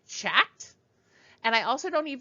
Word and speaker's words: chat: Notice that in chat, I don't say chat. And I also you don't even hear any sound for the T at the end of the word.